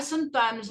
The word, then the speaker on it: sometimes: Você pronuncia geralmente a primeira sílaba aqui. Ó. Sometimes. Não é some, nem sometimes, não. É sometimes.